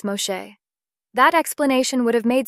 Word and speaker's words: Moshe: which sounds similar to the Hebrew pronunciation of Moses Moshe that explanation would have